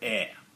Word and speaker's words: EIR: we're kick starting this month in November called air that is how're you pronounce it now air is a one-shot all-ages